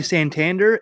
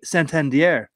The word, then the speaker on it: Santander: awesome one so that everybody would say anthony santander is actually when i went to go see the orioles uh i have a video of it it's anthony santandiere that's how you pronounce that thank you yes